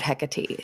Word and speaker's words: Hecate: And how she talks about Hecate. So how much do you know about Hecate? I know I'm saying Hecate. Other people say Hecate, Hecate. There's a whole bunch of different pronunciations. They're all equally relevant.